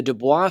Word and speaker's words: Dubois: this one is the Dubois bookstore. People pronounce it Du Bois, but that, of course, is incorrect. It's pronounced Dubois.